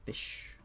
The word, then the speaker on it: fisc: After the S, the C becomes sh, so it's fish. Now, if this is Northumbrian, there's a possibility that this could have been fisk still. But even in Northumbrian, we see the singular is usually fish.